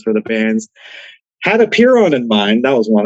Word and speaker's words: Apeiron: latch on to is Apeiron or Apeiron. They switch out the I's and R's out of nowhere. Like, spelling is right there, guys. Think of it like peer, or like if there's